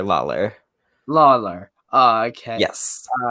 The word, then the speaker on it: Lawler: here with um david how how do you pronounce it not lawyer lawler lawler okay yes all right yeah it's it's